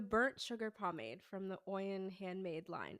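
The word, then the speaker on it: Oyin: Oen. Oen. Oen. Oen. Oen. How do you spell that?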